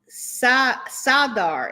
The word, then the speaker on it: Zadar: All right, so today we're going to be talking about the Port of Zadar or Sadar. Sadar is what it says pronunciation here.